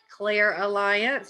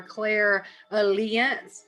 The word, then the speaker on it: clairalience: might pronounce this differently i am rather country and have an accent so it's clear aliens for me some people might say claire alliance or claire allen's but um like i